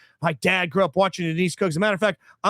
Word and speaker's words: Cooke: I'm like, okay, well, the one Coke that I fucking know, it's pronounced Cook, and it's Sam Cooke, and it's a famous punter for the Ravens.